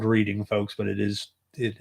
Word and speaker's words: Reading: that's right I said r not reading it is spelled reading folks but it is it is pronounced reading